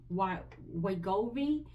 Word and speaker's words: Wegovy: That little extra, So, I just told her I couldn't afford to get the Wegovy. That's how you pronounce it.